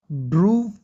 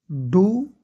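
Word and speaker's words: do: गाड़ी चलाना, ड्राइव करना, ड्राइव, ड्रूव, ड्राइवन, ठीक है? करना, डू, डिड, डन। डॉन मत पढ़ना भाई, खुदा के वास्ते, इसे डन, ठीक है? और ये डो नहीं है, ये डू है।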